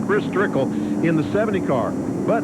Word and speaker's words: Chris Trickle: Chris Trickle in the 70 car.